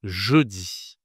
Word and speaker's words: jeudi: 4e jour de la semaine, c'est jeudi. Jeudi. Alors, ici, tu as la voyelle e je dis. Et ici la consonne c'est je je dis.